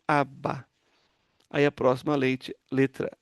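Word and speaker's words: אבא: Então, esse Aleph é mudo, então vai a vogal aqui. Essa vogal é um patá, é uma vogal breve, é um A breve. Então, aba.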